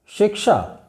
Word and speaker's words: शिक्षा: शिक्षा, अंत में श आना चाहिए, श आना चाहिए, शिक्षा।